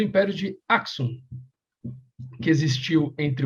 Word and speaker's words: Axum: Ou Axum, se escreve A-X-U-M, deve ser Aksum, obviamente.